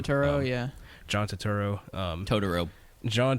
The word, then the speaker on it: Turturro: Is that how you pronounce his last John name? Turturro, yeah.